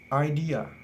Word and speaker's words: idea: idea in this world there are three syllable idea the second syllable D in this work is trisyllable so it will be longer and higher in pinch than the first and last syllable a so when we read it it will be idea the Third information in